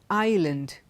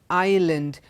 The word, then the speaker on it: island: a word like I Island I L it does not come in okay none of these words in Aisle Island islet in none of these words is s pronounced now let's look at